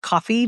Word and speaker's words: Ko-fi: one of those Ko-fi, I think it's actually pronounced just coffee, but the KO-FI buy me a coffee like tip jars.